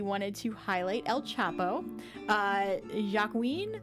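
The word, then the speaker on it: Joaquín: to highlight El Chapo ja Queen I believe is how you pronounce his name Joaquin so he was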